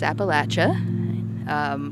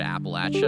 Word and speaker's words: Appalachia: A lot of out-of-towners say Appalachia, and the people that live around here know and think it's Appalachia. And my very first memory that comes to mind is there's this composer named Aaron Copland who was also interested in this. He was pronouncing it Appalachia his whole life until he came to the area and learned it's pronounced Appalachia way after Appalachian Spring was composed.